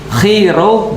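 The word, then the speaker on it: Chi-Rho: Sebenarnya bukan PX, tapi bacanya adalah XP. Nah, jadi XP itu kalau XP bacanya dalam bahasa Yunani, X itu bacanya Chi, P itu bacanya Ro. Jadi kalau XP, Chi-Ro bacanya adalah Christ.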